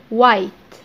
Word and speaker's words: white: اللون الأبيض يعني white. White. White. نخلي بالنا إن الـ H ما تنطقتش، وإن الـ E في آخر الكلام ما تنطقتش. ونطقنا إزاي؟ white.